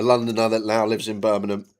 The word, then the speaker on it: Birmingham: A Londoner that now lives in Birmingham. You'll get no G's in my pronunc pronunciation of the city. It's just Birmingham and it always will be too far.